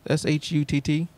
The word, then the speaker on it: Shutt: I think it's S-H-U-T-T. Shutt. Real close to saying a bad word, but I think that's how you say it.